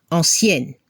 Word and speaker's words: ancienne: Al femenino se escucha la N final, ancienne.